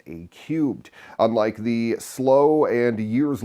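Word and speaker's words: A³: Valley unit a three that's actually pronounced a cubed unlike the slow and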